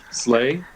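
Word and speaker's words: sleigh: pronounce uh what's a what's a good english word that that sounds like it's not supposed to sound like that um slay oh yeah exactly slay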